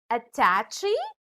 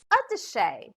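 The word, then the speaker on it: attaché: oops i heard you did you just say attachy the dictionary tells us that it should be pronounced as a touche for example i forgot to bring my otter shay case at work now try this next word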